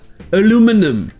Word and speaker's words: aluminum: Mais en anglais américain, c'est la deuxième syllabe qui est accentuée, et toutes les autres voyelles se prononcent aluminum.